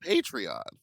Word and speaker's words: Patreon: I think it's pronounced Patreon. Yeah, we all know that. Willam just says Patreon.